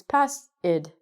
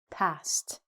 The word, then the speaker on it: passed: we pronounce ed verbs, we actually have to change the ed to a t because of our s sound.